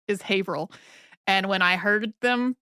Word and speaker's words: Haverhill: the name of a Massachusetts town as it is spelled which is Haverhill but the way that Massachusetts town is pronounced is Haverhill and when I heard them say it I